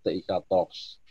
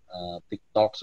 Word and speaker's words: TIK Talks: Kita di internal berupaya untuk menghindari hal seperti itu, maka terciptalah nama brand ini, TIK Talks. Tapi mohon nanti bacanya jangan TikToks gitu, jadi nanti kepleset gitu.